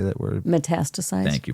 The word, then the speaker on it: metastasize: Metastasize. Thank you. Metastasize.